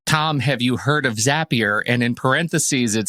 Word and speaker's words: Zapier: a tool called zapier z-a-p-i-e-r and it's it is apparently pronounced zapier because zapier makes you happier is what they say internally well that's regrettable have